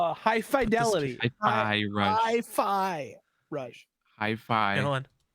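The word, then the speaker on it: Hi-Fi Rush: Oh, our game of the month for October is High Five Rush. High five. High Five Rush.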